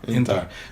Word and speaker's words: Intar: Intar. Yeah. But you got to kind of clip the end.